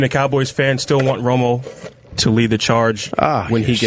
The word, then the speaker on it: Romo: What's up with Tony Romo? He's not a winner, man. He's not a winner. Look, I love that his last name rhymes with Homo.